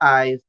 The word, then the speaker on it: I''s: Well, every time I've looked into it, I've heard it pronounced Aizu. That's how they pronounce it as in Japan. I'm going to do the same, but it can be pronounced eyes as well.